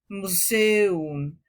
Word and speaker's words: Museum: Cuidado porque en muchas palabras encontrarás estas dos vocales juntas pero en sílabas distintas como Museum.